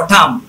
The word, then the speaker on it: AUTUMN: এরকম আছে অটাম, AUTUMN, অটাম।